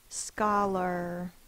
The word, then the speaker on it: scholar: with a a r it's not pronounced R it's pronounced ER scholar a lot of it